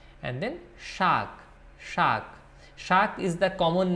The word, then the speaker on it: শাক: Shak is the common name of all the leafy vegetables like palong shak, lau shak, then comes lal shak, pat shak.